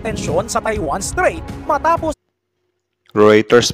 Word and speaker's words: Reuters: sa Taiwan straight matapos ritters pala yyung pagbigkas n Akala ko routers e or reuters ritter